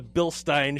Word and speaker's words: Bilstein: quality Bilstein shock and that is the correct way to say a Bilstein not Bilstein i mean my technical idle target out of it so it's a bill stein shock and what it